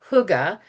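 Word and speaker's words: hygge: Um huga. So it's h y ge, but it's pronounced huga and it means hug.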